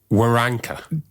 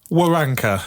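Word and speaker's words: Waronker: Be careful how you say it. Oh, yeah. It's Joey. Woranka. That's correct. Joey, don't say it too fast. Woranka.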